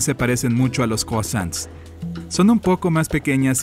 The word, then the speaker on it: croissant: Y sí, tienen ese croissant que la mayoría de la gente no puede pronunciar bien. Oye, ¿sabes el secreto? Solo ponle un poco de acento francés.